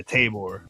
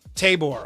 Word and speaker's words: Tabor: And sometimes it's in Iowa, as this listing is in, how do you pronounce this, Andrew? Tabor, Iowa? Tabor? Yeah, Tabor. Tabor, okay.